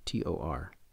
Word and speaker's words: Tor: The sixth power is Tor, T-O-R, pronounced as Tor.